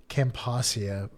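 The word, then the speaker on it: Camposcia: camposa campasia campasia yeah there's no vow between the S and the C campasia uh and the species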